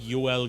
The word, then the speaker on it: Joel: Vine sauce's name is Joel Johansson or if you were pronouncing it properly it would be like uh it would be like yel Johansson but that means that